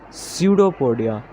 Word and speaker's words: pseudopodia: fusopodia around it so its pronunciation is pseudopodia p is silent so this is like